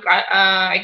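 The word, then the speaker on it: chi: dari tadi bilangnya explorer explorer itu kain Square ya bacanya Kai jadi anda itu Sini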